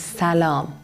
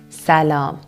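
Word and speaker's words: سلام: of saying that is salaam salaam which has two syllables sa with the stress on the second syllable like most other persian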